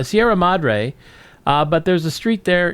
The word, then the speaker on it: Sierra Madre: And the funny thing is they pronounced the name of the town correctly, Sierra Madre, which I believe it means the mother of the Sierras or something. Anyway, Sierra Madre, but there's a street